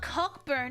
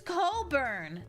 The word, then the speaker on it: Cockburn: They're like, "No, it's not cockburn, it's cobburn."